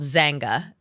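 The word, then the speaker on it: Xanga: Did either of you guys have I I wouldn't assume so, but uh there's something called Zangga. Z A or I'm sorry uh X A N G A is how you'd spell it.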